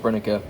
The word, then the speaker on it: Brenneke: And yes, I know it's pronounced Brenneke, but the box looks okay.